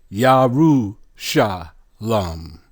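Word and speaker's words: ירושלם: Yaru sha lam.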